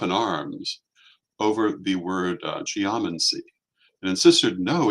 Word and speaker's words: geomancy: would do so um I would not be upset if you pronounced a geomancy but it's it would be properly pronounced geomancy the same way you would say biology not biology or um geology not geology it's simply the way